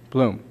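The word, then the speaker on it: Bloem: Mr James H blohm is that correct the pronunciation bloom bloom Mr James H bloom Mr Bloom is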